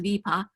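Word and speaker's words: Wiippa: which is in Tornedal, it's spelled W-I-I-P-P-A. It's pronounced Vipa.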